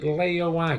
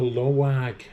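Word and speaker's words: Laoag: Is it Leoag? No, Lawag. Oh, Loag.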